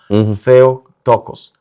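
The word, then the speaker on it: Theotokos: Entonces, el teococosm de hecho es esoococos y y lo lo pronunciamos bien el griego o trato de pronunciar bien el griego. Theo tocos.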